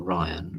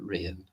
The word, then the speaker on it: Rian: Is it Rian or Ryan? Rian.